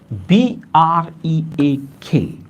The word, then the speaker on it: brake: The first is B-R-A-K-E and the second is B-R-E-A-K. The pronunciation of both the words is break. Yes, pronunciation is same.